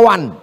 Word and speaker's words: one: Tulisan enggak sesuai dengan bacaan one dibaca wan.